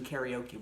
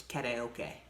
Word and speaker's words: karaoke: We've also been pronouncing karaoke wrong. It's karaoke.